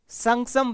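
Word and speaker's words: Shaksgam: हैं, क्या कहते हैं, संगसम वैली कहते हैं. क्या कहते हैं? संगसम वैली. कहीं पे लिखा सक, ये स्पेलिंग है, ठीक है, सक्षम है लेकिन संगसम इसको ऐसे कहते हैं, संगसम कहते हैं.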